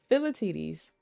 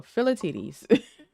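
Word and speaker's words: Philoctetes: Let's see if Google will pronounce it. You might hear an echo of my stream. Philatides. There we go. Philatides.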